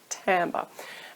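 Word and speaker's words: timbre: vocal tone isn't to be confused with vocal tamber now this is a funny little word and it it's spelled Tim but it's actually pronounced tamber and this refers to the overall sound of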